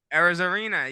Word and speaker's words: Arozarena: Arozarena. Arozarena, yes. Though Yashida from Boston Red Sox host a higher batting average amongst qualified left fielders in the AL. One more time, David. Arozarena.